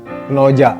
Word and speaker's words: Knowjack: Itu tamu saya ada dari teman-teman dari komunitas kalau tulisannya sih Knowjack gitu ya. Nah, jadi tapi kalau lafaznya atau juga spellingnya itu bacanya Knoja ya. Oke, come here atau Jak Kno gitu.